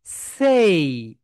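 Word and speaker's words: say: তাহলে সবাই বলো সেই। 3 টাইমস রিপিট করো মাই ডিয়ার সোলজার্স। সেই, সেই, সেই। আমরা এটাকে কি বলি? সে বলি, কিন্তু রাইট প্রোনাউন্সিয়েশন সেই। এরপর সেকেন্ড ওয়ান যেটা, এটা হচ্ছে ডে।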